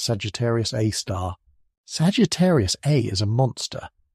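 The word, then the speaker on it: Sagittarius A*: It's a super massive black hole, and we've named it Sagittarius A, pronounced Sagittarius A star.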